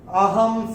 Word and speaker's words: अहं: पहले चरण में ह के ऊपर अनुस्वार के बाद का अक्षर है स, और अनुस्वार के बाद जब स आएगा तो अनुस्वार का उच्चारण होगा म।